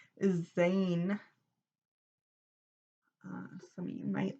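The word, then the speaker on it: zayin: completion as well as in hebrew zed is is pronounced or is called zane uh some of you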